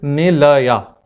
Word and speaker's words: Nilaya: And my daughter's name is Nilaya. Odd number of syllables, three, ne, la, ya.